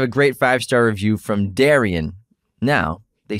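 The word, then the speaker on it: Derynne: They keep, we keep saying Darren, but it's pronounced Darian.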